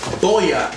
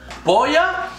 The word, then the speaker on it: Boya: ahead and unbox this boya is it boya is things pronounced boy it's boya nagoya let's see what's inside okay